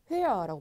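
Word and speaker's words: höher: 여기에 체가 빠지거든요, 여러분. 그래서 회어라고 발음하시면 돼요.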